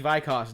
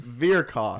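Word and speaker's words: Vyrkos: Phil, you're doing the Vikos dynasty, right? Virkos. Virkos. Yes.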